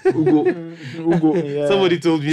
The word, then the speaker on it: Ugo: Oh, Ugo. Yugo. It's like Nigerian name. Ugo.